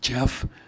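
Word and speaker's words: Geoff: Okay, it's Jeff, G-E-O-F-F, as English means God's peace. Okay. K-N-E-L-L. It's pronounced, like knee and knife.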